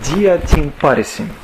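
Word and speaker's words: διὰ τὴν πάρεσιν: Значит, это место по-гречески читается так. «Диатин парисин». Диатин парисин.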